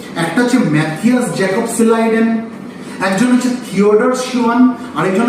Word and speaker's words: Schleiden: Matheus Jacob সিলাইডেন, SCHLEIDEN, Matheus Jacob সিলাইডেন। যদি মনে না রাখতে পারো বানানটা, তোমরা MJ সিলাইডেনও করতে পারো।